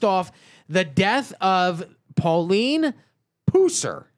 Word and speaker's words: Pusser: The mo the story the movies are based off the death of Pauline Puser. Is that how you pronounce it? Or is it Pusser? I believe it's Pusser.